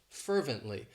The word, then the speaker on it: fervently: of my favorites fervently it has three syllables and the stress is on that first syllable fervently and what it means